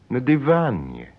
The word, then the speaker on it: на диване: But when you say on the sofa, you don't do that. You say на диване. In other words, the stress stays on the syllable van.